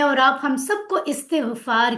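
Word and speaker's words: استغفار: सबसे पहला पॉइंट कि मुझसे ऑफकोर्स मैं और आप हम सबको इस्तगफार की जरूरत है। कई लोग अस्तकफार कहते हैं गलत है प्रोनाउंसिएशन। इस्तेगफार होता है। याद रखें।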